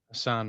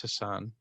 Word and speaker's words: Hassan: sacramento assan white side i'll say it how i said it wrong just like you guys said my treasure's name wrong you're wrong but this time i know i'm right it's hassan shut up um but yeah